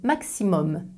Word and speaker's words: maximum: Les mots d'origine latine qui finissent avec U plus M ne se prononcent pas un comme parfum, ils se prononcent homme comme pomme. Voici quelques exemples. Minimum, maximum.